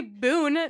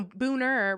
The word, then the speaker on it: Boone: street names i i learned how to say boon or no booner right it's booner um so you people say